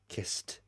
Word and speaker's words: kissed: that's an unvoiced sound kiss there's no vibration in the throat therefore it's an unvoiced sound therefore the ed after sounds like kissed risked unvoiced sounds risked